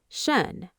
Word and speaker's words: schön: Shun.